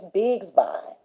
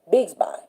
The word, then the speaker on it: Bigsby: spelled Codi, and the last name is Bigsby, Bigs. Biggs is just like a whole bunch of bigs, Bigs, and then by Bigsby.